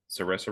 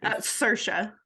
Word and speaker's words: Saoirse: Is it uh Sarissa Ron? Is that how you say it? Cersa.